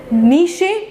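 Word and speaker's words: niche: अब आता है आपका नीश और नेश कोई कोई इसको नीश कहते हैं कोई कोई इसको नेश कहते हैं बट आई प्रोनाउंस इट नीश अगर हम नीश की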